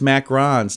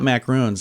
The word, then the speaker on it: macarons: thanks for having me Monday's Mac Rons not macaroons I was wrong all this time Monday's macrons uh and